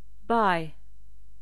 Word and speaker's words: buy: pas le U acheter buy on ne prononce pas le U non plus choisir choose venir C